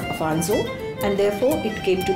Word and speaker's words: Afonso: Britishers pronounce it as Alfonso instead of Afonso, and therefore it came